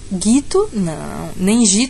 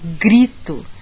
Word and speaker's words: grito: ou Guito nem dito a gente fala grito então eu vou juntar o g no R para ele chegar até eu ir vou tentar pronunciar os três juntos grito gri falo G dá uma arrastada no R para ele juntar no